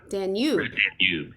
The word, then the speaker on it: Danube: Danube.